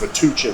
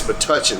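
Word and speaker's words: Metuchen: 13 years old and i have pronounced matuchen wrong the entire time it is but touching so thank you for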